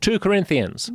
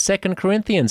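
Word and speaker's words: 2 Corinthians: part of the Bible two Corinthians it's not as it's not pronounced two Corinthians it's second Corinthians even even if you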